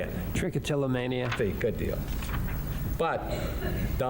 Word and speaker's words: trichotillomania: Trichotillomania.